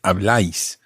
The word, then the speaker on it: habláis: And if you think of the verb form, for example, habláis, think of where the stress goes on that. Habláis. Where does the stress go? On the A.